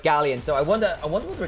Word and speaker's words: Galions: Gallions. Gallions. Gallions. Gallions. At least that's the English pronunciation.